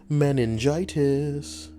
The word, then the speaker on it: meningitis: can get down on meningitis four syllables not like meningioma meningioma what about women